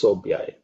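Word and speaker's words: शोभ्याय: In terms of pronunciation, this sob, that's fourth letter in the pa varga, so it has to be aspirated.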